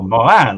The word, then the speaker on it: Morin: The name Morin is French. Oh, Morin, like a real. Oh, because I know that name exists also in Scotland, but it's pronounced very differently.